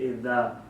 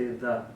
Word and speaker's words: إذا: But in Arabic language, when we say the letter zal, that comes out with our tongue. So we say idha. You pull out your tongue and you say idha.